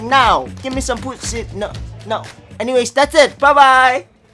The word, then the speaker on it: pusit: Next, I also got this pusit. Be careful with the pronunciation.